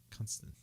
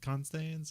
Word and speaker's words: Constance: to say because uh constant no constant how do we say her name not gonna stand though it can stains you can Constance okay yeah in American English it's Constance um and so he